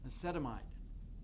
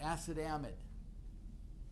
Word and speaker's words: acetamide: to be acet acetamide acetamide or acid amid some some people I think more people pronounce it acid amid okay no here are